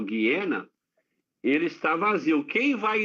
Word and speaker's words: Geena: Mas o lago de fogo, o Guiena, eu chamo de Geena, mas a pronúncia correta é o Guiena, ele está vazio.